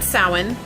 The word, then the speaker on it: Samhain: an opportunity to welcome a new beginning during soin some of you might know it as Samhain but it is pronounced that one the ancient Celtic festival from